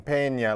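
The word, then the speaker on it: Peña: Pena Nieto he um you got to say he's n Pena like jalapeno peppers and that'll take you a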